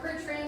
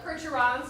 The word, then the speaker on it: Percheron: So again, those are our 4 percherons or percherons, depending on how you want to pronounce it.